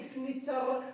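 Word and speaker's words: snitcher: इसको बोलेंगे स्निचर, ना कि स्निचर, तानी बोलेंगे। CHLEEN से पहले टी साइलेंट होता है।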